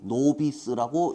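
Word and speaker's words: novice: B입니까? V입니까? V, I, CE, 노비스라고 읽습니다. 노비스가 초보자였어요.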